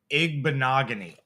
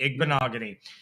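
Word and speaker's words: Igbinoghene: if we didn't uh Noah igbanogony okay rhymes with mahogany ignogony this dude got picked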